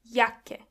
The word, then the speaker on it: Jacke: And this is where you can see that the letter J is pronounced as Y. Jacke.